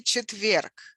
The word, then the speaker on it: четверг: How do we say четверг? How do we say Thursday in Russian? Четверг. Четверг with a stress on the second syllable, on the last syllable.